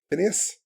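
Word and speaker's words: Finneas: The backing vocals on I Love You is actually, I'm going to say it wrong, Phineas?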